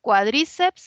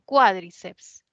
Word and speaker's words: cuádriceps: palabra no esta palabra Cómo se pronuncia cuadríceps así como bíceps y tríceps o sea lo lleva en la i o es más bien cuádriceps no cuádriceps no está en la